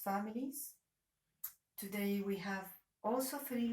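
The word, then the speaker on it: ح: ha ha and then as you notice that this letter with which we pronounce it or it's called ha it doesn't exist in in English so this is the first new letter for English speakers that is ha why gene gene it's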